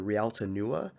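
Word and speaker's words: Réalta Nua: I recommend looking up the Rialta Nua, that is spelled Realta space Nua, Rialta Nua version.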